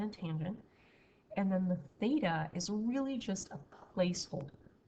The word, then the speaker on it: theta: So you're wondering how to like pronounce it, so theta, like that.